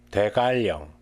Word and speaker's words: 대관령: 대관령, 대관령.